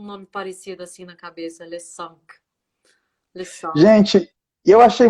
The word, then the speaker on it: Le Cinq: E o último veio o Le Cinq, que eu acho que muita gente não sabe que pronuncia assim, mas é Le Cinq, né?